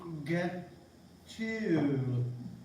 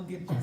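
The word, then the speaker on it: gâteau: But you gotta say it all French. It's spelled G-A-T-E-A-U. Get you. Get you, Twinkies.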